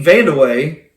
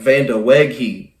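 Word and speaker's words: Vandeweghe: score that day was Kiki Vande and I know I pronounced that right cuz I looked that up I was going to miss it looks like vandi but I had to look it up but it's Kiki vand away had 51 points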